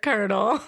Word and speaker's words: colonel: colonel for sure there's not even an r in there it's so ugly i hate it sign our petition to change the spelling of the word colonel make it phonetic please how would you spell it okay e-r-n-e-o so like a kernel of corn perfect i'm here for